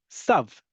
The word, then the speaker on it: tav: backgrounds, you know that a tav without a dot in it is pronounced like sav for many years.